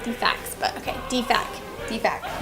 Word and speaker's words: DFAC: was putting sounds like the fax but okay Deepak Deepak not DFACS like we you take your